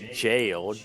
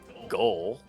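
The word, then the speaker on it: gaol: Well, to be fair, for the longest time, I called jail, G-A-O-L, goal, confidently. 5 scions incapacitated, and with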